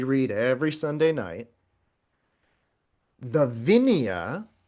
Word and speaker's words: Vinaya: the sutras which is what we read every Sunday night the vineia sometimes pronounced vinaya but vignia and that's all of